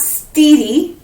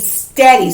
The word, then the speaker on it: steady: words this is not steedy and this is not ready this is steady so now it makes that f sound okay it doesn't make an e sign it makes it f